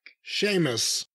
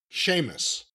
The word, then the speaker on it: Sheamus: music interrupts and it's Seamus Seamus is back Sheamus what was his injury or heartache the reason why he's been gone Sheamus yeah Seamus Sheamus s e a m u s s h